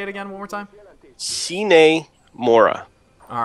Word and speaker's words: Sine Mora: S-I-N-E? Think so. Like a sine wave? Yeah, sine.